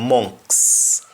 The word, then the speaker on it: amongst: I told you words that end with ST or EST. We don't pronounce the T at the end. That's why we have words like amongst me becoming monks.